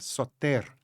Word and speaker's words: Sóter: Eu estava vendo que o seu nome, em grego antigo, com acento na última sílaba, soter.